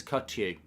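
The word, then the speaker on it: Kökçü: says Phantom and uh you pronounce it as cut you okay I don't really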